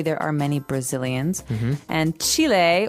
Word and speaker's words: Chile: So, Brazil, Brazilian in this country there are many Brazilians and Chile or Chile as many Americans say um has people called Chileans.